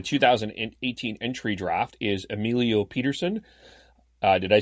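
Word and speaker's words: Pettersen: entry draft, is Emilio Peterson. Did I say that right? Yeah, it's just Peterson. It's the same North American pronunciation.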